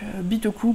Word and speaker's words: Bitoku: Bitoku pour ceux qui insistent à prononcer avec un certain accent, mais je suis sûre qu'il y a des accents japonais où on prononce le U.